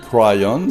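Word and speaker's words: Kryon: Et Crayon, si on veut le prononcer à l'anglaise, il nous dit qu'il était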